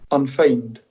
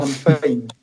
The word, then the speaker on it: unfeigned: So I'm going to Google that so we can actually understand how it's pronounced first of all. Okay, so let's see. Unfeigned. Mm. Unfeigned.